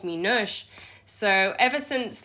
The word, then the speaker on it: Noosh: a it's a pronoun it's pronounced like noosh because that's how i would probably when i see it read it yeah but you say